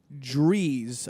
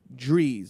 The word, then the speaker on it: Drehs: Wayne Drees, I believe is how you uh Oh. But you spell it d r e h s. Wayne Drees.